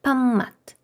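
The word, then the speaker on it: 밥맛: Написано паб мат. Ми п прочитаємо як м і буде м'якіше. Памат. Памат.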